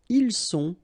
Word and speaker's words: ils sont: Ils sont, final T not pronounced.